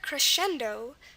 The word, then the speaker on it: crescendo: Okay, next word, crescendo. Crescendo, CR is pretty normal. Again, the C sound at the beginning could be C or CH, but here we're fine with the C because a consonant follows it, and R does.